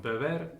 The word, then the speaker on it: beber: This small line on the top just represents stress, so it's pronounced beber, and the stress is on the second syllable, and vivir, the stress